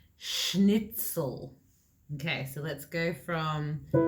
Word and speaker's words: schnitzel: because i was remembering how many of my students mispronounced this it's schnitzel okay so let's go